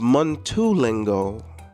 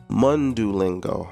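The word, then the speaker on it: Mundo Lingo: guys have been watching my mundu lingo it's not pronounced Mingo mundu lingo okay now I've been in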